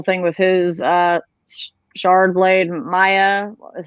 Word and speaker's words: Maya: with his shard blade, Maya is how I read it. I've heard it pronounced Maya, and I'm like, Maya is not how you pronounce that, y'all. It's Maya.